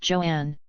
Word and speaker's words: Joan: weighing barely 120 lb Joan pronounced Joanne little was black female